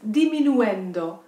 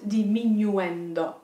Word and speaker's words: diminuendo: Note the pronunciation, it's diminuendo, not diminuendo.